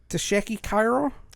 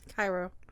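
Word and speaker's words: Tchéky Karyo: Tasheki Cairo? Cairo. Karyo. Please pardon my Caucasian ignorance on trying to pronounce this name, y'all.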